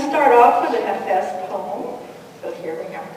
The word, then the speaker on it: Hafiz: It's also pronounced many different ways. And I pronounce it Hafiz because I have a Kurdish friend, and she said her